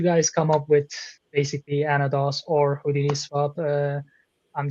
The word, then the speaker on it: Anodos: Uh welcome to the June launch uh for our another episode with our uh great guests from Anodos. I hope I I hope I'm not uh mis- pronouncing that.